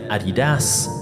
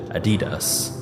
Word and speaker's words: Adidas: Depending on where you're from, you may pronounce it Adidas, or personally, I've always heard Adidas.